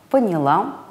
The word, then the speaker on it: поняла: то есть правильно началом поняла взяла брала форме мужского и среднего рода а также во множественном числе ударение падает на первый слог начал понял взял брал или начали поняли взяли